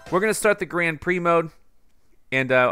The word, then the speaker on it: Grand Prix: Prix mode and uh I used to call it Grand Pricks way back when because like I didn't know how it was spelled like I knew Trix serial right and I never heard it pronounced but it's Grand Prix mushroom cup and way